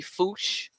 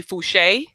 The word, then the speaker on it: Fouché: I think that's right this may be foosh fo u CH e which in Louisiana is could be fouché instead of you know cuz it's sort of in there it could be foosh you know this area